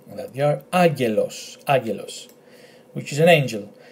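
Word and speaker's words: άγγελος: So agelos, agelos. It's like saying agar and los. That they are agelos, agelos, which is an angel.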